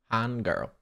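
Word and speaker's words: 한글: supposed to Han G Han girl H girl Han more in your throat that that l sound Kenji go got to curl your Tong girl hunger H hunger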